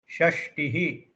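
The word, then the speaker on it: षष्टिः: No need to stress the Takara. So Shashtihi, soft.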